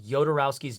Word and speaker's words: Jodorowsky: the entire world is called yodorowski's dune that's how it's spelled j-o-d-o rousky yodorowski's doom it was the best